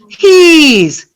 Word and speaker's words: he's: His, he's. His, he's. His is very short. He's is very long.